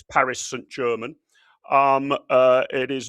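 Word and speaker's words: Paris Saint-Germain: So it is not Paris Sanjaan, it's Paris St. German.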